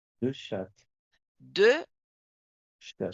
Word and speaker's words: chats: Deux chats. Deux chat. Chat on ne prononce pas les T final ni les s.